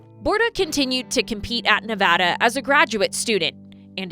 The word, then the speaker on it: Nevada: and I go, "No, it's Nevada. Let's learn how to say this, right?"